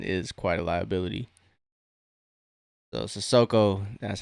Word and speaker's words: Sissoko: So Sissoko, that's how you pronounce his name.